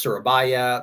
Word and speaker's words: Surabaya: of it looks cool uh but it is pronounced surabaya the harbor there is called parac and this